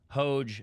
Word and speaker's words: Hoge: And right now we have President Hoge on.